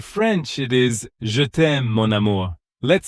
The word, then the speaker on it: mon amour: In French, it is mon amour.